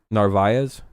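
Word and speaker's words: Narváez: Narvaez. Oh, I was saying it right. Narvaez.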